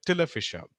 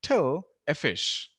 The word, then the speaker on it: official: example I'm sure when most of us came to this word we all said till official it should be till so we all said duh so I was talking about how in most Indian languages there is stir and tur but in English it's always stir so when we came to this word most of us just said till efficie till official it's actually till a fish so those kind of